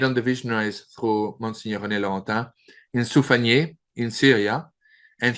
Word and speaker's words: René Laurentin: I worked for about 8 years with well-renowned Mariologian, Msgr René Laurentin. In French, his name is pronounced properly René Laurentin.